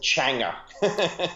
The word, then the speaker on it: Changa: I pronounce it Changa. That's the very much Australian pronunciation.